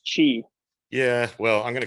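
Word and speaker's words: Qi: what i call them q i's i know that's not how you pronounce it but where you can just you know set it down on this and it and it charges the guy back up right which i talked about a while back but um i think it's pronounced chi yeah well i'm going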